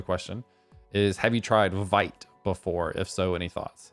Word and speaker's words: Vite: part of the question is have you tried vite before if so any thoughts another one i've